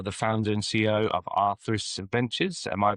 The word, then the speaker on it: Aetheris: And Angeley, you are the founder and CEO of Aetheris Ventures. Am I pronounced that correctly? Yes, Aetheris Ventures.